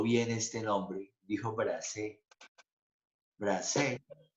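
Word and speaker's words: Brassaï: Dijo Bracé, Bracé, y estuvo bien, no es Brazay, es Bracé, es un súper fotógrafo franchute.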